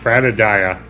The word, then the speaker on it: Bradadiah: Alright, Bradadiah, I'm told, is how I pronounce it. Bradadiah. I guess that makes sense. It just feels like an extra syllable to me.